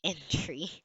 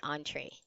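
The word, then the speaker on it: entrée: I didn't know I I read it as entry but it doesn't sound right so I went to Google search see there's already a button here showing how it's pronounced it's actually on tray see but it's in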